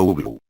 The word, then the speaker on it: Ubloo: Porque no quiero ver a Uglo, respondió, pronunciando Uglu.